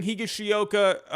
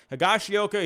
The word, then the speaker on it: Higashioka: less playing time getting higashiyoka or higashiyoka i always forget how to pronounce that higashioka he is now getting